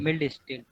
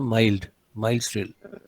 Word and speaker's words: mild steel: Milled steel. Milled. It is not milled. You should pronounce it as a mild steel.